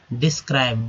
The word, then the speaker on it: डिस्क्राइब: डिस्क्राइब, dish हो गया, या डिस बोलेंगे, DIDES, डिस। CRIB, क्राइब, आई का उच्चारण जो है दोस्तों यहाँ आई के रूप में हुआ है, इसलिए क्राइब हो गया।